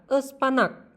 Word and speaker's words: ıspanak: Cara pelafalannya itu seperti E dalam kata emas. Contoh kata dalam bahasa Turki ada ıspanak, yang artinya bayam.